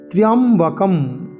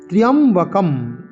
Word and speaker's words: ত্র্যম্বকম: ত্র্যম্বকম, ত্র্যম্বকম, ত্র্য জফলা য় ত্রা, এরম আকার উচ্চারণ করব না।